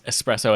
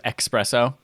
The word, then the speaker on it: espresso: to do to balance out the people who pronounce espresso as expresso well i pronounce things with x not anxious